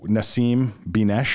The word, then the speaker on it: Nasim Binesh: So Nasim Binesh is how you pronounce it.